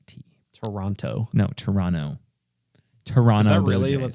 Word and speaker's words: Toronto: me Toronto Blue Jays you're not supposed to pronounce the second te Toronto no Toronto Toronto is that really